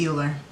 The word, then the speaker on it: Euler: You're smart, but I doubt you're the next Euler. It's pronounced Euler.